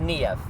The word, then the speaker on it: Niamh: So, last night um I met You pronounce it NEV, right?